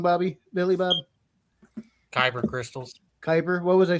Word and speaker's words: kyber: I say it wrong Bobby Billy Bob crystals kyber what was I saying Kuiper oh it's kyber yeah yeah but he said